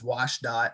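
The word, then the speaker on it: WSDOT: I'm the Habitat Connectivity Biologist at the Washington State Department of Transportation, otherwise known as WashDOT. It's kind of the acronym pronunciation.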